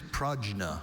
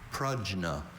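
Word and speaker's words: prajna: We often see that a pronounced as a schwa sound in words with that origin, but the bell still hurts every single time we hear it.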